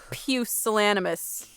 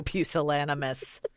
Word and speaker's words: pusillanimous: Don't be a pusillanimous. Don't be so pusillanimous.